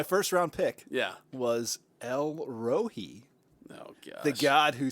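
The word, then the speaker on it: El Roi: round pick yeah was el rohi oh god the god who sees me yes and it's e-l-r-o-i r-o-i some people pronounce it elroy elroy his boy elroy yes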